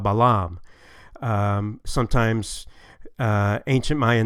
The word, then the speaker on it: Balam: We know that shield is pronounced Pakal, like we saw before, and jaguar is Balam.